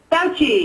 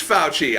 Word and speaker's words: Fauci: how to pronounce it how do you pronounce your last name fouchi it is fouchy I thought so but I didn't want to